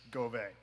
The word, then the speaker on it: Govey: The correct pronunciation is Govey.